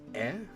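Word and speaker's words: え: So this is or e, the equivalent of the vowel e in English. You pronounce this one as eh.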